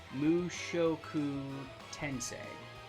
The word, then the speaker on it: Mushoku Tensei: one song okay so i just googled the pronunciation and it's legit mushoku tensei mushoku love this soundtrack you sell oh this